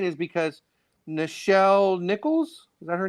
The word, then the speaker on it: Nichelle Nichols: But the reason why I was saying is because Nichelle Nichols, is that her name?